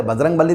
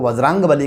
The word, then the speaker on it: वज्रांगबली: वैसे बजरंगबली नहीं कहते, उनको वज्रांगबली कहते हैं, पर हमारे पुराने जो